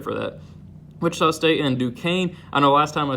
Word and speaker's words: Duquesne: 810 people or non 810 people try to pronounce that name but I know it is Duquesne now but either way I still have them